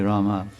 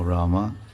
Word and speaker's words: Rama: no that's not right you're cutting some syllables it's okay rama because i could understand if you say ram there's no mother and four syllables are cut no rama so then i was